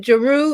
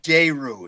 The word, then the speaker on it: Je Ru: And so what is it Jeru? Am I saying that right? Actually, J-Ru. It's the accent on the E that makes it sound like an A.